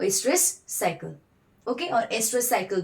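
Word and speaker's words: oestrus: और इनमें आपका जो साइक्लिक चेंजेस आते हैं वो एस्ट्रस साइकिल, ओके और एस्ट्रस साइकिल भी आप इसको बोल सकते हो, where O is silent. Okay एस्ट्रस cycle या फिर ओएस्ट्रस साइकिल।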